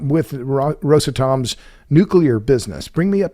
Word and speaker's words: Rosatom: What about Rosatom? And I've heard it pronounced Rosatom. I think Rosatom is the one that is the most common.